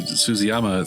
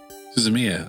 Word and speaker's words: Suzumiya: The Haruhi, oh god, I'm not going to pronounce this right. The Haruhi Suzuyama theme was really awesome. I remember watching that with subtitles. Suzumiya, okay.